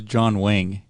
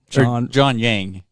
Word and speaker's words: Yang: Well, MSNBC showed the crowd surf, but they got his name wrong. They said it was John Wang. John Yang.